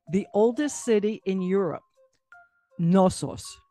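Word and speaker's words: Knossos: oldest city in europe nosos is the name of that city does that start with a g actually starts with a k k crete was ruled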